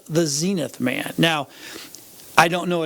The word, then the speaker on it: Zenith: first um anybody on under 40 probably often pronounced as it Zenith zenth but but we would know it's Zenith it's the TV brand it's the TV brand